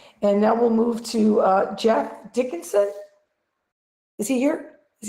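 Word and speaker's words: Geoff: Okay, and so is the other person we have is Jeff, but do you pronounce it Jeff? No, it's Jeff. So Jeff with a G.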